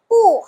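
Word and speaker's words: 不: Tulisannya B U, Bu, kenapa bacanya pu? Iya, dalam bahasa Mandarin B-nya itu dibaca P, ya. Jadi pu hao ce.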